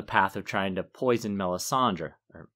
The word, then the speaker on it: Melisandre: to poison melisandre or melissand how do you say it melisandre i give it a little drip at the end yeah i go for melissandre that's how roy detrice does it in the audiobook too but i'm too